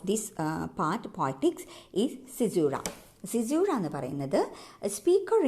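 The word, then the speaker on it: caesura: is clear and um the next one is sizura c-a-e-s-u-r-s ura that is the pronunciation run online exam writer uh the in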